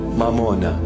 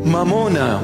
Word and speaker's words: mamona: sounding Aramaic almost Aramaic it's not M mamona come I teach you the proper pronunciation mamona money the Lord himself